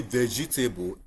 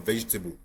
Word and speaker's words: vegetable: We will say vegetable instead of vegetable.